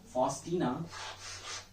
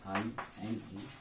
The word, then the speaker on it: Faustina: Author का नाम जो है ना वो है बामा फॉस्टीना, ठीक है। फॉस्टीना स्पेलिंग दे लेना, FAUSTINA, फॉस्टीना।